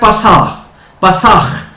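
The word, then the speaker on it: פסח: میں آیا ہے، کیونکہ اردو میں ہم کہتے ہیں فسا، اور جو عبرانی ہے اس میں ہے پساخ۔ تو اب دیکھیے تھوڑی سی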